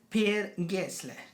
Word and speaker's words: Per Gessle: Anyway, Roxette was a Swedish pop rock duo consisting of Marie Fredriksson and Per Gessle. This is the way you have to pronounce it.